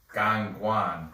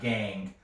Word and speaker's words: Gangwon: It's actually pronounced like this. Gangwon. Gangwon, not gang.